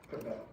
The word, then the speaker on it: Quebec: Yeah, the Q is pronounced with a K. Quebec. Bro, what is you doing?